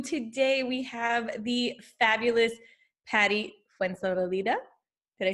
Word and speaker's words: Patty Fuenzalida: Today we have the fabulous Patty Fuenzalida.